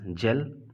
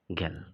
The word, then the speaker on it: gel: और यहीं पर आप एक वर्ड देख सकते हैं ध्यान से, that is GEL, इट इज़ जेल नॉट गेल, right.